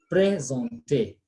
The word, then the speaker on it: présenter: Présenter. S-E-N is on. So we say présenter, to present when you're making a presentation, okay?